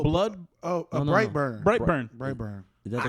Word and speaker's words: Brightburn: Blackburn? Is it Blackburn? Am I saying it wrong? Oh, Blood. Oh, No, no, no. Brightburn.